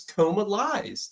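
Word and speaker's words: Comalies: com yeah coma liing there's no in there's no n in it it's coma lies take two words and put it together that's what it's called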